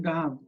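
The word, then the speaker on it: דהב: First of all, we notice that this has a long vowel in the first syllable, and this one is reduced. It's very, very common that for whatever reason, the first syllable in Aramaic is going to reduce where it's long in Hebrew.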